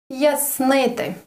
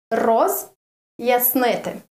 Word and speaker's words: роз'яснити: The next word is роз'яснити. Роз, and then a short, very, very tiny short pause. Роз'яснити.